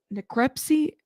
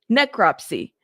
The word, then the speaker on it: necropsy: Is it necrepsy?